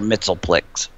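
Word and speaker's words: Mxyzptlk: mixi spit lick sorry I was going off the pronounciation from the Super Friends cartoon from the early 80s they called him mr. Mittal flicks that was how they said it I did actually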